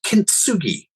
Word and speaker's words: kintsugi: your uh email um kintsugi and I pronounced it right yes um so what I've